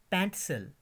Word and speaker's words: pencil: PENCIL, pronunciation है PENTSL, पेंटसल, पेंटसल.